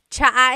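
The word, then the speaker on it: tsaa: And it's spelled T S A. Cha. Cha. That's such a Tagalog spelling. I love it. There's the ts sound and then the double vowel uh pronunciation. Cha.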